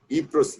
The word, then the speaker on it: Ypres: Incidentally, YPRES, the Y pronounced as E, is a town in Belgium on its border with France.